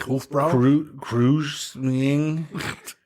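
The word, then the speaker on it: Kräusening: the OOTS over it k r a u s n i n g like Cru Cru ensures a smoothness cising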